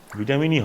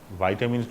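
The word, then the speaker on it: vitamin: যেমন ভিটামিনই হয়, ভাইটামিন কখন নয়, ওটাই সঠিক উচ্চারণ। তুই কি বলিস? ভাইটামিন বলি, অনেকে বলে ভাইটামিন। ওই ভাইটামিনটা ভুল, উচ্চারণটা হবে ভিটামিন, তাই না?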